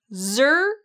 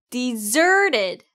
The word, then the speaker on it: deserted: deserted. 네, 이제 제일 중요한 단어 강세 배울 차례죠. deserted 중에 zer를 강하고 좀 길게 발음해 주시면 돼요. deserted.